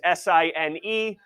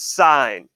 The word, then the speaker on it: sine: Sine, the whole spelling is S-I-N-E, but we abbreviate it S-I-N, and no, it is not pronounced sin. It is sine, okay?